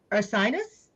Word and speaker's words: Ursinus: mhm, She completed her bachelor's degree at Ursinus, I'm pronouncing mhm. it correctly, You did, Ursinus yeah.